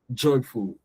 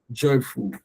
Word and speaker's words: joyful: You're not going to stress the fool. Joyful. Joyful. Joyful. The fool is going to be lower.